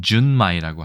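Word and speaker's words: 純米: 그래서 순미를 일본어로 준마이라고 얘기합니다.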